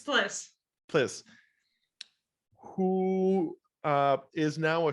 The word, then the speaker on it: Plis: How's it pronounced? It's Plis.